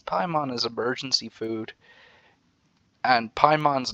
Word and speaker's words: Paimon: is emergency food and paimon's name pie sounds like like the first half of her name sounds like the word pie as in the word associated with the pastry or whatever so it's